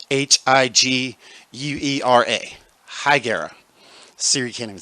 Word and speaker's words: Higuera: It is spelled Higuera. Higuera. Siri can't even say it. Like it sounds like he's gargling, like he's chewing on something. Take a left on Higuera.